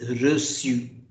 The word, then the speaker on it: reçu: This cedille accent, because of this cedille accent, we pronounce it as reçu.